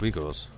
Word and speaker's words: Uyghurs: Apparently it's pronounced Uyghurs.